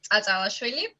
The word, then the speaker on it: Tsatsalashvili: My last name is very hard to pronounce even for Georgians, but it's Atalashvili.